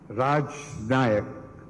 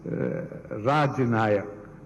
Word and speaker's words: Rajanaka: The venerable title Rajnayak, I'm sorry I'm pronouncing it as Rajnayak, because in the morning I spoke to a professor of Kashmiri Shaivism based in Delhi, and he said that it is Rajanayak, which means, I will